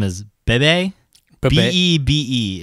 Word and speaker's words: Bebe: B-E-B-E is how it's spelled. Bebe. Bebe or Beb. Or Bed. Bebe, like from South Park.